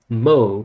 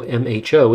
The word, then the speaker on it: mho: do that these 10 ohm resistors become 0.1 mo conductances the conductance is 1 over the resistance